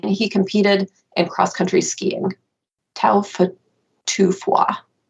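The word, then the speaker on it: Taufatofua: competed in cross-country skiing taufa tufua I think is probably the correct pronunciation of that Peta is uh like the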